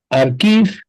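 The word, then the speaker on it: arXiv: los sitios de prepublicación, como Archive se escribe como Archive de la Universidad de Cornell, o el sitio ePrint de la International Association of Cryptography Research de la IACR.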